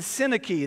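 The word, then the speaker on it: Syntyche: and I'm might get it right Yoda and sinaki that's how it's pronounced I plead with you I plead with where was I I plead with Yoda and I plead with sinaki to be of the same mind in the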